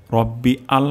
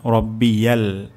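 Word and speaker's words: رَبِّيَ: সুবে হানা রব্বিয়াল, রব্বিয়াল, রব্বি আল হবে না, রব্বিয়াল, রব্বিয়াল, সুবে হানা রব্বিয়াল।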